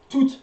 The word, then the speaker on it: toute: Toute la journée. You do pronounce the T here because you got E at the end. So toute.